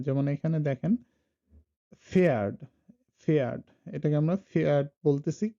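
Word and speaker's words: Pferd: যেমন এখানে দেখেন ফেয়ার্ড, ফেয়ার্ড, এটাকে আমরা ফেয়ার্ড বলতেছি, ফেয়ার্ড মানে হলো হর্স, ঘোড়া। এখন এই ফেয়ার্ড এর পিটা কিন্তু আসলে উচ্চারণ হচ্ছে না, এটা সাইলেন্ট থেকে যাচ্ছে, যে কারণে এখানে বলা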